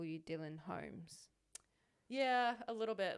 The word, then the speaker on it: Holmes: And I make sure to emphasize the L. Holmes. Yeah. Holmes. Yeah.